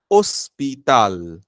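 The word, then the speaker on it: hospital: आहे आचे आचे आचे हे अल्फाबेट सायलेंट असतं म्हणजे आपण त्याचा उच्चार कधी करत नाही पूर्णपणे सायलेंट असलेलं हे अल्फाबेट आहे हे फक्त स्पेलिंग मध्ये वापरतात लिहिताना वापरतात बोलताना बोलताना बोलताना याचा साऊंड काहीही नसतो म्हणून इथे जो वर्ड आहे तो आपण वाचताना इंग्लिश मध्ये हॉस्पिटल म्हणून वाचतो पण स्पॅनिश मध्ये वाचताना ओस्पिताल ओस्पिताल स्पिताल ओस्पिताल हं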